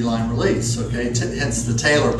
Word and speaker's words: TAELR: Hence the TAELR, pronounced like sewing, like a TAELR.